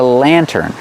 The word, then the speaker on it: lantern: This is called a lantern pronunciation land turn Lantern put the stress on the first syllable this is a lantern